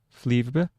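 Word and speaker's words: Flyvbjerg: Fle flebe. Flebe.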